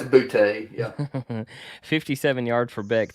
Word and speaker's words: Boutte: Is that how you pronounce his name? Yeah, it's Butte.